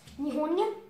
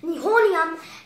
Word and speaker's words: Nihonium: a really hard one, pronounce, we ask what pronunciation over there up. Alright, so first we get to 113 Nihonium NH, which is Nihonium.